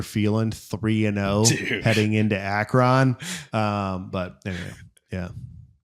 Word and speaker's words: Akron: heading into Akron?" But anyway, yeah. Akron. Is that also wrong? Akron. It's the wrong emphasis on the wrong syllable, dude.